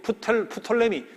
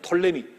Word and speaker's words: 프톨레미: 안티고노스란 장군이 마게도니아 본토를 다스리고, 그리고 프톨레미, 푸는 묵음으로도 합니다. 톨레미, 혹은 묵음이 아닌 프톨레미, 그렇게 붙여도 괜찮아요. 이 책 보면 프톨레미도 돼 있고 톨레미도 돼 있어요. 풀을 묵음으로 보면 돼요.